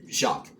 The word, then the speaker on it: Jacques: I know it's spelled like Jac, but I think it is just Jacques.